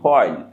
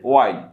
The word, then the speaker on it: while: ওয়াইল এই শব্দটি দুইভাবে উচ্চারণ করা যায়। আমরা সাধারণত বলি হোয়াইল, কিন্তু শুদ্ধ উচ্চারণটা হবে ওয়াইল।